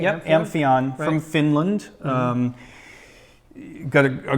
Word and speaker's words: Amphion: with that and now the Anthea am i pronouncing correctly yeah Amphion really Finland you've got a great reputation in